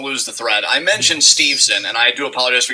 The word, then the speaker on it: Steveson: the thread i mentioned steveson and i do apologize for getting his name wrong it's steve's and not stevenson that's on me yeah